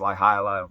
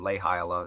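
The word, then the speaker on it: Laihiala: villi laia li hyala i think it's pronounced ly hilah or lay hiala it's either long a or long i and they produced this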